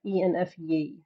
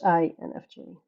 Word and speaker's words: INFJ: I am ENFJ. I'm sorry. English. Or INFG. I'm sorry. Like we pronounce the I as E here in the Netherlands. So sometimes, sometimes that goes wrong. But it's INFJ.